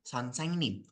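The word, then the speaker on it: 선생님: Son, Seng, Nim. Itu ya. Bacanya kayak gitu.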